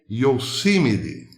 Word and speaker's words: Yosemite: Ele pronunciou assim. Yosemite. E a galera caiu de pau. Onde já se viu, não é assim que pronuncia Yosemite. Yosemite, algo assim. E ele falou Yosemite. Algo como eu sou semita.